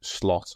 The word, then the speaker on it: Slot: out and um yeah I don't think he's going to get the the schl of the the the Dutch probably pronunciation I think it'll just be slot as you know simple as the four letters it's been putting down